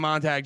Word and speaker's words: Montague: the very lovely Montag what's up dude come on come on guys no isn't it Monty Montague no you nailed it no you didn't oh